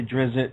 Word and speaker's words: Drizzt: sometimes I say drift other times I say Drizzt and the reason is because I think that's